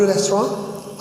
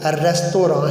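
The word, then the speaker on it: restaurant: अच्छा, रेस्टोरेंट हम पढ़ते हैं लेकिन इसकी सही प्रोनाउंसिएशन जो है वो रेस्तोरां है। फ्रेंच वर्ड है और फ्रेंच में एंड पे जो टी है वो साइलेंट होता है।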